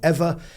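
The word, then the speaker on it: Eavor: a great company uh called ever um e-a-v-o-r don't ask me why they spell it that way but it's called ever and it's closed loop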